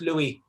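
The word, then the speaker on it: Lughaidh: Strange enough, although written L-U-G-H-A-I-D-H, my first name is merely pronounced Louis. It's because it's a Gaelic name, it's an Irish name. The symphonics, the way the sounds of the word, the way the letters make sounds, it's just pronounced Louis.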